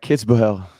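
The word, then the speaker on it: Kitzbühel: mind I got you the ATP 250 at kits boell that was perfect I mean I'm I should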